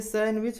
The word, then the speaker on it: sandwich: इसे सैंडविच पढ़ा जाता है जिसके मतलब मेवा या कचौड़ी होता है।